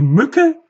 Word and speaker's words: Mücke: Die Mücke sprechen wir kurz. Grün als Farbe spreche ich auch normal aus. Die Düfte auch. Die Düfte vielleicht noch etwas kürzer. Also die Mücke definitiv kurz. Der Reiseführer lang.